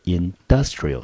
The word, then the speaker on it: industrial: 词念成 industry，注意它的重音节，industry 是在第 1 音节，industrial 是在第 2 音节。